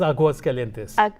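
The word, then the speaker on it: Aguascalientes: It's Aguas Calientes.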